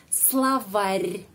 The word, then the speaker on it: словарь: Ada tanda pelemah yang melemaskan huruf R. Terakhir, yang terakhir. Словарь, словарь, bukan словарь. Словарь.